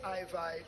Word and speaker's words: IVi: IVi. Can you spell it? R-A-S, IVi as in Levi.